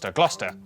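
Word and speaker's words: Gloucester: you through a couple of Basics sester is pronounced stir Lester wer gluster w at the start of the final syllable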